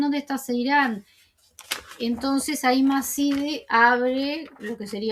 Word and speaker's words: Macide: y la madre de Akin se llama Macide, ¿no? Macide se escribe, pero creo que se dice Machide.